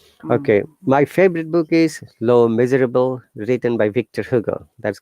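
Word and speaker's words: Les Misérables: my favorite book is less miserables by ah victor hugo amazing let's actually in french it's called low miserable that's silent okay do you speak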